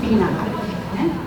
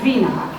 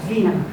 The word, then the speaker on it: vinegar: En anglès la V baixa la pronuncien quasi una F, no és vinegar, és vinegar. És molt fricativa i ho marca molt, totes les V baixes les fan molt F, vinegar.